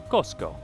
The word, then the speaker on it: Cusco: the region of Cusco Cusco used to be pronounced Kosco which means the center